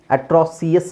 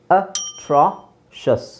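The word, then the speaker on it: atrocious: eighty ಆಟ್ರ ಆಟ್ರ ಅಟ್ರಾಸಿಯಸ್ ಅಟ್ರಾಸಿಎಸ್ ಆಗುತ್ತಾ ಇಲ್ಲ ಅಟ್ರಾಸಿಯಸ್ ಆಗಲ್ಲ ಅಟ್ರಾಷಿಯಸ್ ಏನು ಅಟ್ರಾಷಸ್ ಸುಮಾರು ಜನ ಇದನ್ನ ಶಿಯಸ್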